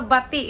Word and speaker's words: bati: Or bati, it's pronounced as bati, okay?